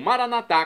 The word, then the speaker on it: maranatá: E agora eu clamo maranatá, como dizemos nós católicos, ou maranata, como dizem nossos irmãos separados, os evangélicos ou protestantes. Não importa a pronúncia, o significado é o mesmo.